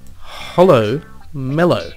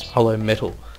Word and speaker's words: Hollow Mellow: Hollow Mellow. When I was first pronouncing this name, I read it as Hollow Metal. And I was thinking, oh, Hollow Metal.